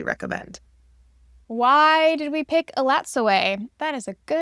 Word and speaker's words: Elatsoe: It took me listening to the audio book to realize that's how it is pronounced. When I was looking at it before, I absolutely was calling it elato, but it is elato, which I think is really pretty.